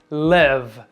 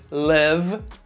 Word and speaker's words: live: Como verbo, o verbo viver ou morar, aí a pronúncia é live. Se você quer dizer, eu moro no Brasil, I live in Brazil. Onde você mora? Where do you live? Já os adjetivos vivo ou ao vivo pronunciamos live.